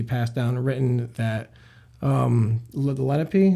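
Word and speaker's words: Lenape: down written that um Lenipe, that's how you pronounce them. Yeah. Lenipe or Lapi.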